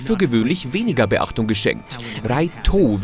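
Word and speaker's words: ライト: Raito, wie der Held des Manga im Japanischen ausgesprochen wird, kann nämlich nicht nur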